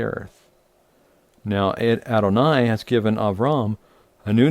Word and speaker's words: Avram: doesn't go by Abraham, he goes by Avram in the Hebrew, or Abram, or Abram, depending on how you pronounce it. But it is Avram, and that is the name.